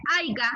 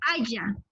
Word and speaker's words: haya: Por ejemplo, cuando usted dice aiga, está cometiendo un barbarismo, porque no se dice aiga, se dice haya.